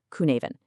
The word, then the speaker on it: Cynefin: And yes, first things first, it is pronounced "koo-ne-ven". It's a Welsh word that basically translates to habitat or a place of multiple belongings.